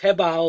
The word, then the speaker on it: HoBao: update on the habala and it's pronounced Heba like h-e-b Oh W